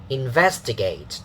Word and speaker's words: investigate: Investigate. Da da da da. Da da da da. Okay, 4 syllables. 1, 2, 3, 4, and then stress falling on the second one, so the pitch also has the second syllable strong.